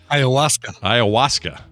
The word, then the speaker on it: Ayahuasca: Ayahuasca. Well, you knew that real quick. You knew that real fast. Yes, I sure did. That's my middle name. Oh, got a whole drawer full of the ayahuasca there.